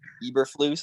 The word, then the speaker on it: Eberflus: bunch of videos to figure out how to pronounce it. Eberflus.